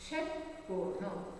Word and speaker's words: षटकोण: षटकोण फिर से प्रोनाउंस कर रही हूँ, ठीक तरह से उच्चारण सीख लीजिए।